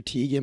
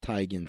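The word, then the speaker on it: Teigen: and john legend i know everybody calls her t again but she says it's actually pronounced tigen so i like to be the only guy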